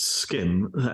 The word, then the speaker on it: SCIM: what's that so uh scim uh pronounced skin stands for a simple